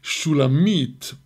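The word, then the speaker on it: שולמית: correct and it could the correct pronunciation of the name is Shula meat but here with almost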